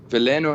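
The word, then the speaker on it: Veleno: I pronounced that correctly it's valeno or valo valeno is perfect valeno I reckon it's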